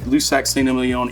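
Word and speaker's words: Lussac Saint-Émilion: is a name that most people can't even pronounce so lusac ston is a particular area within a certain region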